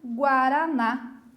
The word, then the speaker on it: guaraná: Puxei aonde? Na última sílaba, no na.